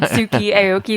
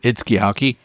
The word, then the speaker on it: Itsuki Aoki: And I noticed that they actually pronounce it Itsuki Aoki. So if you guys would prefer, I pronounce it that way instead of Itsuki Aoki, which is how I have been pronouncing it. Yes. So was it Itsuki Aoki? Itsuki Aoki, yes. Just like take the middle syllables that I've been doing out, essentially.